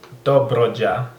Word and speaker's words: Dobrogea: I mean, in Romanian we call it Dobrogea, actually, with Dobrogea. But I mean, you see at the beginning Cluj-Napoca, he pronounced Cluj, and Dobruja, he call it like Spanish.